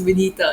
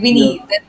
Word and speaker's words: Vinita: So I'm like, guys, it's Vinita, it's Vinita. So at times it's like Yeah. Vinny.